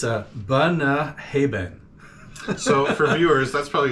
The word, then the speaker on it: Bunnahabhain: So I'm going to butcher the name. It's a Bunnahabhain. So for viewers, that's probably his fourth try. Trying to say that name. Bunnahabhain. Bunnahabhain.